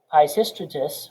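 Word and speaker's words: Peisistratus: brief interlude before continued reform could take place pishystratus which is spelled s t r p-e-i-s-i-s-t-r-a t u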